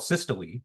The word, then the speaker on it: systole: So the first term, it's called systole, and so that E is actually a long E, so you do pronounce that, right? So systole refers to when your heart chamber is when your ventricles are contracting.